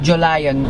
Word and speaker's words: Jolion: of the 2020t gwm Julion it's not Julia it's not like you